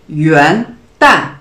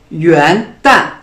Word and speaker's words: 元旦: Yuan se prononce en deuxième ton, yuan, yuan, il signifie le début ou le commencement. Et le mot dan se prononce en quatrième ton.